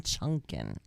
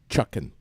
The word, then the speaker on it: Chuckin': Pumpkin Chunkin'. I have. No, there's no N in Chunkin'. It's Chuckin'. CHUCK.